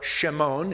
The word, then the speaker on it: Shimon: found his own brother simon or shimon if you will which is the way they would have pronounced it in the hebrew and said to him